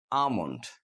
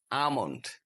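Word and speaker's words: almond: অথবা এল কে থাকে তাহলে আমরা এই এল উচ্চারণ করবো না ফর এক্সাম্পল আমন্ড কাঠ বাদাম আমন্ড কাঠ বাদাম কাফ বাছুর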